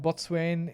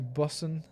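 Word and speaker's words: boatswain: Botswain is almost shortened to Bossen and pronounced accordingly.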